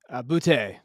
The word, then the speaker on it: Boutte: Is it Booty or Boutte? Boutte. I go Good. Boutte. Good. But Yeah, I'm terrible with pronunciations as well. I like keeping it kind of French sounding.